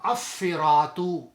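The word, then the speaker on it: الصِّرَاطُ: It become As-Siratu. As-Siratu. We already talked about the Harf Shamsi, Harf Kamri now. So in this situation, this Lam is not pronounced.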